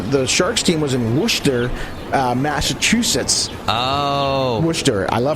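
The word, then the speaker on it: Worcester: uh they all they had a um they were all based on the East Coast all their a AHL teams so the the Sharks team was in wer Massachusetts oh wer I love how they pronounce that that because it's spelled w o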